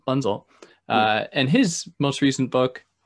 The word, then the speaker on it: Bunzl: Bunzl, do you pronounce the L? Bunzl.